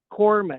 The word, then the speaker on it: corpsman: So, and it's the same as corpsman. That's fair. You don't pronounce the P, you just take the P Yeah, out.